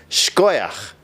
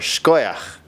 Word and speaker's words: Yasher Ko'ach: Yashar koach. Congratulations. Good job. Good job for making it this far and learning all of this Torah. Also pronounced shkoyach. Yashar koach, or shkoyach.